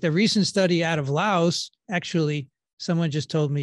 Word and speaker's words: Laos: said it's the professor it's lao okay no s is silence oh well learned something